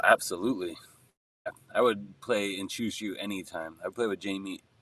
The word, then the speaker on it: Juju: I would play in Chushu anytime. I'd play with Jamie anytime. Am I pronouncing it wrong, by the way? I pronounce it either, bro. I'd give it like a zh. Like a Juju.